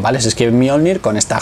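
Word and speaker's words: Mjölnir: Las armas de Thor es Mjolnir, o Mjolnir como dicen en la canción, ¿vale? Se escribe Mjolnir con esta J, porque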